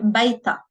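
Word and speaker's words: بيتها: هي بيتا. So again, we don't pronounce the ha, which is the pronoun over here. We just pronounce the long vowel alif.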